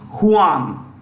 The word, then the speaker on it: Juan: It's pronounced Juan.